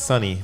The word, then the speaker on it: Sonny: It's Sonny or Sony. It's Sonny, but it's spelled a little bit like Sony, right?